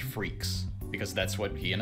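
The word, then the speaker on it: Freecss: Anyway, also kind of fitting that it's pronounced freaks, because that's what he and his dad are.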